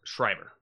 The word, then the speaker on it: Schreiber: How do you say his name? Liev Schreiber. Schreiber? Schreiber. That's a B, not a D.